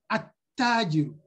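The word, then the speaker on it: التاجر: But you have something like ta, which is part of the huruf shamsiya, you say at-tajiru. At-tajiru. You don't pronounce the L.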